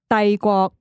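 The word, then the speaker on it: 帝國: So empire, I would say it's Dai Guo. Dai Guo.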